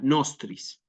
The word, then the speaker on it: nostris: que crucis inimicis nostris palabra bisílaba nuevamente a propósito le pongo yo sí no es obligatorio en los textos repito que tengan el acento en la o la tilde en la o pero como es bisílaba acentuamos también en la penúltima sílaba y nos queda nostris sí libera nos domine